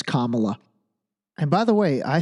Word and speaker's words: Kamala: to say her name just think Kama and then you'll remember that it's Kamala and by the way